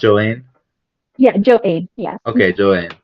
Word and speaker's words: Joainne: Yes, Joane. Nice to meet you, Tona. It's pronounced Joane.